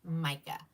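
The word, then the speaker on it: Mika: And it's spelled, Cheryl, I know you put it up there, but it's M-I-K-A, mica.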